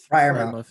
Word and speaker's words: Freiermuth: And I still can't pronounce his name after months of doing research. Guys, help me out. Freiermuth, yeah.